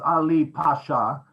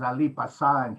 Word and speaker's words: Ali Pasha: ii next please the it's ali pasha but the greek pronunciation is ali pasan he's uh he's famous